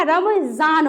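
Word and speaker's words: रमज़ान: रमजान पढ़ेंगे। है ना? यानी ध्वनि में विशेषता। नॉर्मली जान नुक्ता लग गया तो जान है ना? तो यहां पे रमजान नहीं होगा। रमजान होगा। ठीक है?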